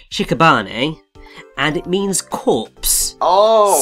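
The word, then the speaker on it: 屍: But his name originates from the Japanese word, which is pronounced shikabane, and it means corpse.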